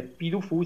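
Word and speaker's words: Puy du Fou: È difficile da spiegare, però secondo me qualcuno che abbia voglia di andarlo a vedere, Pidufu, si scrive Pui con la Y, Du Fuou, andatelo a vedere perché è una cosa incredibile.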